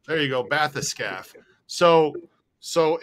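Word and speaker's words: bathyscaphe: this scaff hold on matheson bath the scaf bathyscaf there you go bathyscaf so so it's a it's an underwater they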